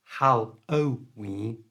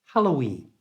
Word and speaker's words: Halloween: this little sound uh so it's not hallowen it's hen Halloween you try now Halloween